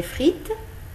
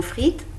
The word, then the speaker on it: frites: vous avez des frites dans le mot frites on ne prononce ni le eux ne s et vous avez du